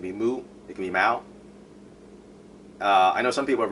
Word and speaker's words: Mao: There's A and O, so plenty of people have pronounced my name Mayo. And sorry, but I'm not Irish. Okay, I'm not from County Mayo. It's Mao.